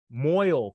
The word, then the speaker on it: mohel: Moil, thank you. Moil, pronounce moil.